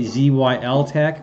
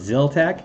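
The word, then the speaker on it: Zyltech: I'm trying very hard not to say ZYL Tech, but it's Zil Tech.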